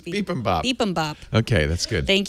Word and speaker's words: bibimbap: mentioned on the last iOS Today podcast is bibimbap. Bibimbap. Looks good. I'll take 2. But I said bibimbap. You said bibimbap? It's bibimbap.